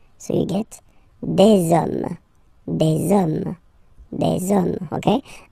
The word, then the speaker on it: hommes: that you just put the S at the end, you don't pronounce it, so you get des hommes, des hommes, des hommes, okay?